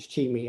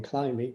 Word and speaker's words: Chimi: I've learned to pronounce it Chimi. I was always saying Climby, but it's Chimi.